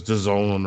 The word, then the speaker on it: DAZN: Jesse, what does DAZN rhyme with? Calzone, sir.